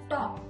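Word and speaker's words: talk: That's why next alphabet, next action word is T-A-L-K, top. L is silent here.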